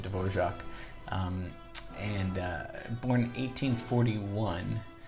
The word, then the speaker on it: Dvořák: composer dorja divor funny spelling not funny but I mean that you pronounce it dorak um and uh born